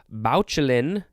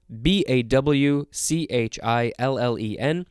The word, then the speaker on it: bauchle: The word bauchlen, that's not how it's pronounced, BAWCHILLEN, which means to denounce or discredit publicly.